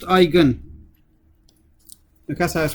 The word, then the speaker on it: eigen: eigenvalue is called the eigen value okay it's pronounced eigen because i was pronounced icon and you you